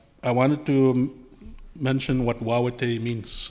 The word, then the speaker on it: Wawatay: And for us in Cree, we would pronounce it Wawatay.